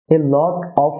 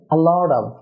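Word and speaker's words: a lot of: Dear viewer, এ লট অফ না হয়ে হবে আ লট অফ, আ লট অফ, আ লট অফ।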